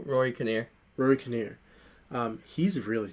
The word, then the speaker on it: Rory Kinnear: i'll say his name you said his name is rory mckinnier no rory kinnear rory kinnear um he's